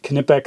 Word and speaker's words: Knipex: and by the way I'm using what canipex says their pronunciation is hard cake I enjoy